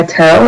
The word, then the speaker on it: Terrell: I do go by Terrell. It's pronounced like Carol with the T, or you can call me Mrs.